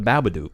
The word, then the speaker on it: Babadook: It's the Babadook. The Babadook. No, it's Duck. Because it has to rhyme with fucking book.